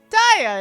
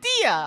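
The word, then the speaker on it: Diya: even more like it if you say your name wrong like die instead of Dia okay I did say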